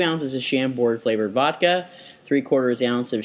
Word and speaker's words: Chambord: I don't know how to pronounce it. Yes, it's Chambord.